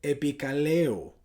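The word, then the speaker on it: ἐπικαλέω: Esa palabra invocaré en el griego se dice o se puede pronunciar epikaleo, que la definición es poner un nombre, un apellido, permitirse llevar un apellido.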